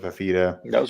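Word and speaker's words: Fifita: I mean, Arizona, their offense is good, so they've got a freshman quarterback and Fafita. I'm terrible with names. I think that's how you pronounce it, Fafita.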